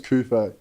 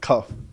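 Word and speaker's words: Coupé: Like my last name's Coupe. Yeah. And like, it's got the accents over it because it's French. Bro, all through school I got like cuff, like.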